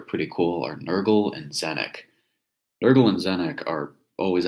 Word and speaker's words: Tzeentch: Zenek is actually spelled really differently. It's like TzeenTch, I think. It is quite a crazy spelling for something pronounced as Zenek.